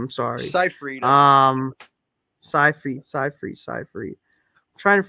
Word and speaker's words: Seyfried: because she did had a nice scene with Seifeld. What's her name? Fuck. With Seinfeld? Her and Fuck, Jerry fuck, fuck. Seinfeld? No, no, Amanda Seifeld. Amanda Seinfeld. I can't fucking pronounce her fucking name. I'm sorry. Seyfried.